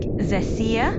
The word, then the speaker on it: Xecea: Sure, it's pronounced like Xecea with the emphasis on the middle syllable. So just think of it like Xecea.